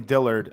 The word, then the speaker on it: Dillard: This Dillard kid, Dillard, how do you pronounce his last name? Dillard.